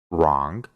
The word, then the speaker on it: wrong: después tiene una R, solo vamos a pronunciar la R y no vamos a pronunciar la W. Por ejemplo, write, que significa escribir, wrong, que significa incorrecto, rest,